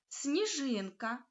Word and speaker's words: сніжинка: увагу на те що у словах сніжинка сніг та снігур пом'якшення звука с перед м'яким нь що закріплюється у вимові але не відображається на письмі тому перший приголосний звук у цих словах Слід вимовяти ляти м'яко с с Ось так як у